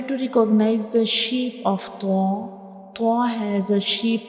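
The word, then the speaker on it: طاء: To pronounce tho, the tip of the tongue will touch the gums behind up front teeth.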